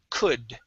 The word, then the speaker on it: could: Instead of could, the L is silent. The word is could. Could.